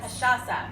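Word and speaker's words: cachaça: was national katrasa day kashasa kashasa and it's not the easiest word to say she gave me a good tip earlier it's like Sasha but yeah um and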